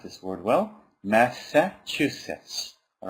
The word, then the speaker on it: Massachusetts: MIT all right I really hope you can pronounce this word well Massachusetts all right n a s a c h